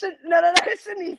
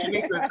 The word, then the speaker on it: Shenice: Yeah, it's Shenice. It's Shenice. I can't get dragged on my own show because I'm pronouncing people's name wrong.